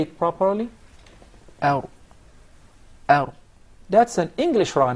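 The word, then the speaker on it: ر: There is a repetition of the ra. He actually pronounced several ra's. We just want one ra.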